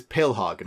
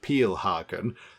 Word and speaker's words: Pilhagen: Somebody in the comments, by the way, pointed out that I've been calling this Pilhagen. Apparently it should be more sort of pronounced Peelhagen.